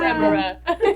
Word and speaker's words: Tamara: She said the whole word. Tamara. Oh, all three syllables.